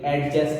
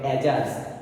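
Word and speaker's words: adjust: যদি আমরা লিখি, আমরা বেশিরভাগই উচ্চারণটা ভুল করে থাকি, অ্যাডজাস্ট বলে থাকি, উচ্চারণটা হবে অ্যাডজাস্ট, ডি এর উচ্চারণ হবে না।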